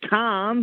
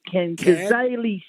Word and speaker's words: Cairns: it's in cairns and the americans say calm because it's ken stadium in cairns up in the top of australia so there's plenty around the place yeah i've called it cards before so it's it's